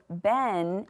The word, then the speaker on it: been: We have to remember that that says, eh. It's not gonna follow our usual rules. So been is how we pronounce this word.